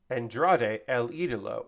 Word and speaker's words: Andrade El Idolo: ] um buddy Matthews versus Andrade El idolo Andrade El idolo is how you say the name Kevin Kelly